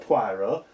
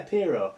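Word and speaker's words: Pierrot: How do you pronounce that? Not Poirot. Hero. Yeah, Pero.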